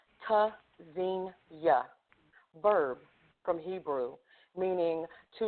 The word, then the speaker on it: Tzynya: Pronounced Tzynya, verb from Hebrew, meaning to listen for, hear. Spelled T-Z-Y-N-Y-A. The first letter, T, is a stop. Disrupts airflow. Quick, sharp, staccato.